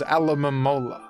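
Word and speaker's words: Alomomola: This is Alamola. I'm saying each syllable here. I'm saying each letter.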